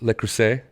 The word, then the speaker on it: Le Creuset: so I had got some like rosette stuff Le Creuset is how you say it um and I